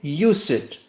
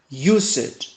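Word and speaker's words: used: sounds like big t it is spelled D but it sounds like T so we say use it use it use it and something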